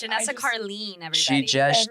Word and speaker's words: Carlin: Carlene? Yeah. Yep. Is that how it's pronounced? Yes. Oh, yeah. It's I Janessa just- Carlene, everybody. She just Everyone says Carlin, and it's just been.